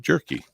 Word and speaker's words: Jerky: Clay Jerky, and he did say that's how you pronounce his name. I'd asked how, and he said Jerky.